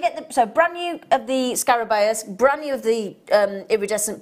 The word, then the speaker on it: scarabaeus: What can you pronounce that? Scarabaeus, scarab beetle.